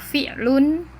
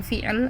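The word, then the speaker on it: فعل: Kemudian fi'il atau fi'il, familiarnya.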